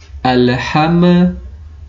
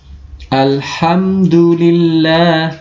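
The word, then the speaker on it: الحمد: Nah, biasanya bacanya yang salah seperti ini, dipantulkan. Ale, ale, alhamma, alhamdu. Nah, alham, alham. Nah, itu yang salah ya. Harus jelas karena dia tidak memantul. Al, alham, alham, alhamdulillah.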